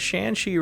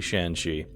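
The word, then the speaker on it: Shanxi: face of humanity woohoo I actually know how to pronounce shanshi right all right the one thing I'll probably pronounce right in this entire game will be sheni and that's only because I know how it should be pronounced if you are uh from China okay the one thing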